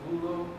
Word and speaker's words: Vullo: Assistant Mr. Vullo, that's how you say his name, Yes, sir.